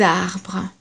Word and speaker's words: arbres: Des arbres. We've got several trees here, but we don't pronounce the S at the end.